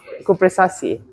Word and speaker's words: Cupressaceae: Oh no, Cupressaceae. In Malaysia, people use American pronunciation for some reason. But in regular English, use the British pronunciation just for this.